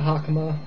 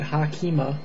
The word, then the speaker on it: hakama: Yeah, so you would be wearing one of these, a hakama, or as your students call it, hakima.